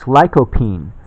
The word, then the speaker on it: lycopene: for it to arrive it's lycopene that how it's pronounced ly co PE ne and it's a extract